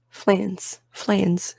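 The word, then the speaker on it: Fleance: Am I pronouncing that right? What are the phonetics? Flans.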